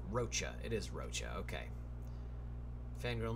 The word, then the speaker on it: Rocha: On your last video, you ask how you pronounce my name. Name is Rocha, C-H Mac. F. Rocha.